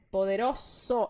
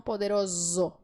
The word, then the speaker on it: poderoso: som S certo então neste caso poderoso você vai dizer poderoso e não poderoso bien E como eu